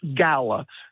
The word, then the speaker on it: gala: term the proper way apparently is gayla but it is commonly used in Europe and some of the United States gala so we are going